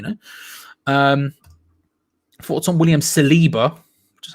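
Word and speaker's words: Saliba: going on you know um thoughts on william celiba which is how to pronounce in geo celiba he looks great paul playing center half arsenal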